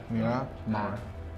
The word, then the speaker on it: Miramar: Miramar. Like almost like Myanmar, but not.